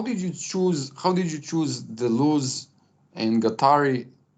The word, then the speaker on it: Guattari: But how did you choose Deleuze and Guattari? Is it pronounced Guattari? Yeah, Guattari, Felix Guattari.